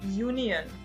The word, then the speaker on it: union: Por ejemplo, la palabra union. En español, la unión. Union. Con esta palabra, normalmente usaríamos los artículos en, o sea, D, pero cuando la pronunciamos, la primera letra es una consonante y por eso hay